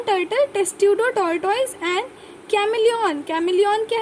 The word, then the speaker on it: Testudo: फिर टेस्ट्यूडो, TESTUDO, टेस्ट्यूडो tortoise, T से टेस्ट्यूडो tortoise. किलॉन है टर्टल, किलॉन टर्टल, टेस्ट्यूडो टॉर्टोइज.